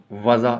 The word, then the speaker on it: وضع: سے تلفظ واضح کریں۔ وضع، واو کے اوپر زبر، زواد کے اوپر زبر اور عین کے اوپر جزم، وضع اس کو بولیں گے۔ تحصیل علم، تے کے